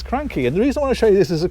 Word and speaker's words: Cranchi: these i pronounce them crunchy every time quite rightly i get told off because the official pronunciation even though it looks like crunchy it's cranky and the reason i